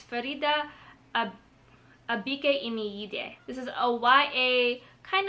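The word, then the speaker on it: Faridah Àbíké-Íyímídé: It's Farida Abike Imiyide.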